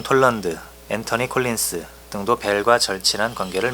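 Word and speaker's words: Anthony: 앤서니 콜린스라고 읽으면 안 돼요. 영국으로는 앤터니라고 해야 되고, 미국에서도 앤터니라고 발음하는 게 거의 80~90%야. 어쩌다가 앤서니라고 하는 사람이 있는데 잘 들어보지는 못했고, 다 앤터니라고 T로 써야 돼.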